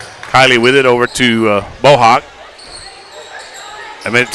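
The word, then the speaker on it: Bohac: It's spelled B-O-H-A-C, pronounced Bohawk. I've always known it as Bohawk.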